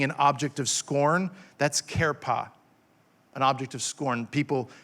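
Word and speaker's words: חרפה: 73 times is the word kerpa c-h-e-r-p-a-h is pronounced karepa it's a noun that means reproach or taunt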